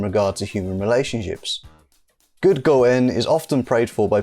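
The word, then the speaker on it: 五円: is this 5y m 5 en in Japanese is pronounced to go in and the reason that this coin is considered most favorable is due to the fact that the word go in sounds exactly the same as go in which is a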